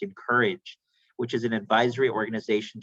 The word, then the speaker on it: Inkerij: founding principal of i-n-k-e-r-i-j it's pronounced in courage which is an advisory